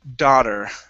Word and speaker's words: daughter: next one is uh daughter Uh right here Yeah Instead of da it's da daughter Daughter There you go Good